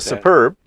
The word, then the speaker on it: Super B: So they call it Superb thread, but actually it's spelled, they actually call it Super B, which is capital SUPER, capital B. So it looks like super. Yeah, Super B on there.